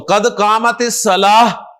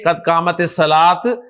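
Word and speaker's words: قد قامت الصلاة: तो कद कामत सलाह, हा के साथ प्रोनाउंस करें, कद कामत सलाह, ना के कद कामत सलात, कद कामत सलात।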